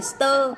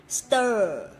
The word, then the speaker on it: stir: Không đọc là âm ơ bình thường mà chúng ta sẽ đọc như thế này này. Mọi người quan sát khẩu hình của mình một chút để mọi người hình dung rõ hơn cái âm stir của mình nhá. Không phải là, không phải là stir, tơ theo kiểu tơ lụa của Việt Nam đâu, mà chúng ta sẽ phải đọc là stir, stir.